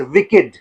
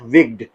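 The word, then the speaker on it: wicked: As adjective इसका meaning evil निकलता है। इविल जब एज एडजेक्टिव यूज़ होता है। इट is pronounced as विकिड। नॉट विग्ड। विकिड।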